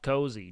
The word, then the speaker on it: Koozie: on the day um isn't it pronounced cozy it's k o o z i e so that is pronounced cozy Jesus Christ I don't